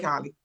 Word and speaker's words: Holly: Take it away, Holly. Thank you so much. Good day. I'm Holly, pronounced like hallelujah.